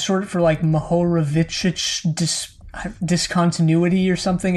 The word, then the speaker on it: Mohorovičić: Yeah, it's short for Mohorovičić discontinuity or something. It's some guy's name that I don't know how to pronounce because it's Czech.